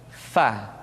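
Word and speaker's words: ف: Diucapkan dengan menyentuhkan ujung dua gigi seri kita bagian atas dengan bibir bawah bagian dalam. Fa. Seperti kita mengucapkan huruf F di dalam huruf Latin.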